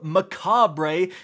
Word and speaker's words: Mechabre: for the brand new Macabre spelled like Mech Aubrey because it's Mech themed very clever Bungie sniper